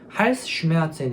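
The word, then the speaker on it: Halsschmerzen: ' 할스 메젠 ' 이라 고 발음 하시면 됩니다 .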